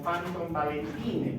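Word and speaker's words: Panton-Valentine: La escribimos como Panton Valentine, pero en realidad la pronunciamos como Panton Valentine.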